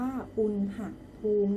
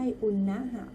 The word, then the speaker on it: อุณหภูมิ: อะไร คะ อุณหภูมิ ค่ะ อ่าน ว่า คุณ หัก room นะ คะ ลูก ไม่ ใช่ อุนหะ คือ อืม ว่า มัน